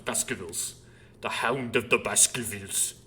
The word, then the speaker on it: Baskervilles: And I'm saying it like Baskervilles. It's spelled like Baskervilles, but we're British, so there are no R's, so it's Baskervilles.